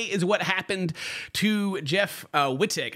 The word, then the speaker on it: Wittek: But the one we're gonna be focused on today is what happened to Jeff Wittek. I think I say his name Wittek, W-I-T-T-E-K.